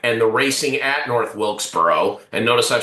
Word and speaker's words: Wilkesboro: Mine is going to North Wilkesboro racetrack and the racing at North Wilkesboro. And notice I've said it twice and pronounced it correctly both times.